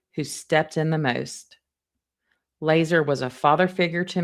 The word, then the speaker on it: Lazar: And last week I had said Lazar, it's actually pronounced Laser, l a z a r. My mother's younger brother who stepped in the most. Laser was a father figure to me in no uncertain terms.